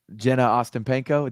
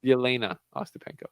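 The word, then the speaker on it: Jelena Ostapenko: to Lil Wayne Uh Jen Austin Peno did I say it right did little Wayne tweet about Jenna Austin Peno oh yes bro yena Austin Peno yena Austin Peno because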